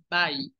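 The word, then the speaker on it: buy: muy bien solamente corrijamos la palabra comprar se pronuncia igualito que a Dios Bye muy bien Qué dice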